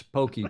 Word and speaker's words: poke: night because that is pokey it looks like poke it's Hawaiian yeah and the spelling is p o k e but it's pronounced Pokey and they anglicize it